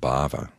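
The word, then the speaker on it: bhāva: word for becoming and the word Bava with a long a is the word for an emotional state they're very closely aligned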